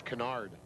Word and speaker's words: Kennard: And I pronounced it Kennard earlier in going over name pronunciations with my counterpart from Kansas City over in the next booth, and he said, no, it's Kennard.